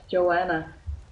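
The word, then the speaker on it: Yoana: other one's name uh Yona I think that's how you pronounce her name Joanna is that Joanna uh y o a n a yes that's Joanna um yeah Joanna she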